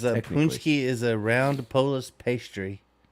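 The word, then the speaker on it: pączki: holiday of paxi day I don't know how you pronounce it really have AO of it punski it's pronounced punki punki it's also the day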